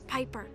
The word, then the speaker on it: Piper: By the way, the name's Piper. Rhymes with Viper.